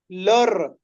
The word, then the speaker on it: leur: लर. इफ you can't pronounce ल, then you कैन से लर.